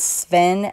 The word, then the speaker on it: Sven: I think his name is Sven, S-V-E-N is how you say it.